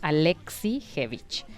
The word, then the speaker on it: Alexievich: se llama svetlana alexievich no trate de escribirlo así tal cual lo estoy leyendo obviamente no se dice así no pero es alexievich y el noruego fose